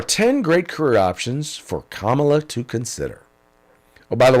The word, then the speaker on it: Kamala: Here are 10 great career options for Kamala to consider. Oh, by the way, I'm going to call her Kamala because that's what my sister-in-law, who is named Kamala, that's how she pronounces it.